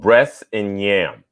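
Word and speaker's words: Bress 'n' Nyam: say the name of your book it's called breasts and yam which means bless and eat in gulligici as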